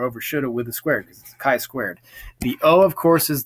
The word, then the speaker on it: chi-squared: into the HD for the big ideas for chi-squared analysis we should notice that it's pronounced as chi-squared not Chi not shy right not getting T here and that of